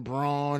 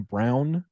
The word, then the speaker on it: Braun: thing is you know he pronounces his name Christian brown brown yeah that's right it's unacceptable I refuse it's Christian Braun you spell it b-r-a-u-n that's not brown buddy O's rw's in there my man on you know